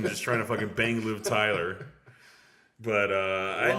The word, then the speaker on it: Liv Tyler: Was I don't know how to pronounce her first name. It's only 3 letters. Liv Taylor. Oh yeah, Tyler. Liv Tyler. Yeah, Liv Tyler.